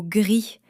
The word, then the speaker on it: gris: Et le mot "gris", il devrait finir par un son "s", non ? Non plus. "Gris" se prononce "gri". Le "s" final s'évapore aussi.